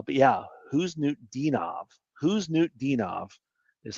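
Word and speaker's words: Khusnutdinov: Who's New Dinov is how you say it.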